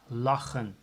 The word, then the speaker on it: lachen: If there's a double consonant or two consonants that are not the same, so for instance CH for the word laughing, that's lachen. CH, two consonants, so the pronunciation is A, lachen.